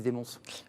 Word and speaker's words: de Monts: Là, je l'ai bien prononcé, Desmonts. Oui, presque. Desmonts. Desmonts, tout à fait.